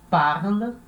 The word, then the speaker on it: parles: Então, na hora de falar, a gente fala tu parles. Pronuncia igual a primeira pessoa.